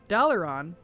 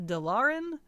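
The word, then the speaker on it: Dalaran: uh well you know I'd never heard uh Dollar on pronounced in game before so back in Legion legan Legion when I first heard them say dollon I was like oh it's dollon not delin because it's an elvish word and so I thought it was pronounced like how the elves pronounce everything else but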